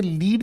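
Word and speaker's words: lead: अगर आप इसी लिखे हुए शब्द को लेड की तरह बोलने का काम करते हैं तो लेड ये अपने आप में बन जाता है क्या, एडजेक्टिव।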